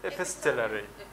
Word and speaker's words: epistolary: And from this, we have the famous word, it's epistolary. In this regard here, we say the ta. We pronounce the ta sound. It's epistolary novel.